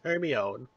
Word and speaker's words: Hermione: were yelling, saying, you're saying it wrong, it's Hermione.